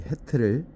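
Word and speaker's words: ח: 그런 의미로 울타리 해트를 보았습니다. 해트 히읗 발음이고요.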